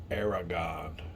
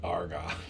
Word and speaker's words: Aragon: oh and especially on my pronunciation aragon not argon it's it's just my